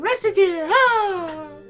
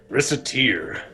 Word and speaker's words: Recettear: no then it's decided Reser Reser mispronounce it it sounds like uh well sounds like racketeer although that's sort of